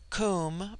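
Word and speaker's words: Koom: immortal Spirit viya immortality Kum pronounced like the Welsh Kum denotes something of holess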